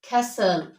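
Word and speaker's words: castle: ई दोस words च Indus with S टी एल E they gut टी S silent letter for example कसल हल हसल हसल विसल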